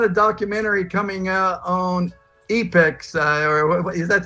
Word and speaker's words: Epix: Hey, by the way, I've got a documentary coming out on Epix, or is that how you pronounce it? Epix channel? You got it. Epix?